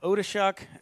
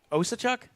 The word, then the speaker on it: Osachuk: I'm Coach Promel along with Odishuk. That pronunciation even close. No, probably not.